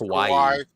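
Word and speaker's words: Kauai: Kawaii I think it's Kawaii I think it's pronounced it's like Hawaii but you start it with a K yeah they were really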